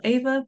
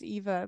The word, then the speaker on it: Eva: what I mean um Ava thank you for coming on the show how are you doing today I'm good thank you my name is pronounced Eva by the way oh I'm so so